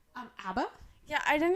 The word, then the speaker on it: ABBA: Um, Abba.